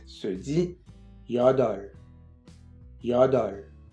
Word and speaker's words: 여덟: 8 se dit 여덟, 여덟. Attention, le petit pi-up ici ne se prononce pas.